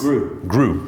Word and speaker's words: Gru: the way how do you say it chris grew so it's gru okay chris and kyle you